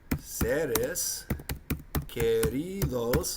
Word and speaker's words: seres queridos: Número 13 would be seres queridos. Okay, that's 2 words, but it has an important meaning. S-E-R-E-S, then Q-U-E-R-I-D-O-S. Seres queridos. Well, seres sounds like serious.